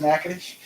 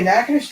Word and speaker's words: Natchitoches: How that's pronounced Natchitoches?